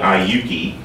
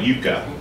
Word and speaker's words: Iuka: And then another one called, of course, here in Southern Indiana, we mispronounce it, but we call it Iuka, but it was Iuka, I-U-K-A.